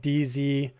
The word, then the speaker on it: Dzogchen: Oh, Hindu meditation methods, specifically a type called Dzogchen. It's called haven't heard of it. It's spelled DZOGCHEN. HEN. Dzogchen.